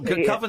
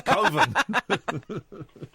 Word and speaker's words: Coven: after koven uh they I think it's pronounced coven no coven sounds like oven it's koven there's there's a the feature